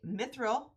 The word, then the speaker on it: mithril: One of these, I'm going to go ahead and do the mithril.